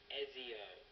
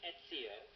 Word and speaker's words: Ezio: his name so here you go Shad the pronunciation got feature we used to do you say his name Ezio not ETO which is what I guess not EO not I don't even know what else you